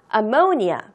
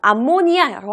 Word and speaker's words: ammonia: ammonia 발음해봐요. 암모니아라고 하면 안 되고요. ammonia라고 발음을 하고요.